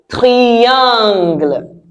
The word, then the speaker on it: triangle: Right, the next one is a triangle. A triangle. Are you getting the idea? Yes, a triangle. Same spelling as English, but the sound in French is different because in French I sounds e. Tri-angle.